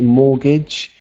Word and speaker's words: mortgage: very good for uh spotting that this is a silent te mortgage Mortgage in uh in the